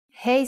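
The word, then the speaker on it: ה: hebrew letter is hey hey sound is ha but it can also sound like a you will see how it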